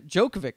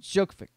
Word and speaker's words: Djokovic: this guy's last name djokovic i think the d is silent djokovic yeah choke um